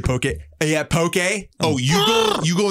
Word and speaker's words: poke: pokey not okay okay did you hear that in one time and now you think it's how people pronounce it it's pokey i did that on